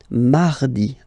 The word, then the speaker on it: mardi: Mardi, mardi, okay? You don't need to go too deep like mardi. No, no, no. You don't move your tongue, so it doesn't sound like mardi. No, it's really soft.